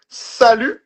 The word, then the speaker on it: salut: You can also say sal. Okay. Just like nar just did. You say sal. The t is silent.